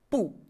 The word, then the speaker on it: 不: Le caractère pu, quant à lui, lorsqu'il se situe avant le premier, le deuxième et le troisième ton, garde sa prononciation originale, pu, au quatrième ton.